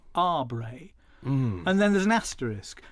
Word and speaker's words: Aubrey: where he says that really we should be pronouncing his name ah bray and then there's an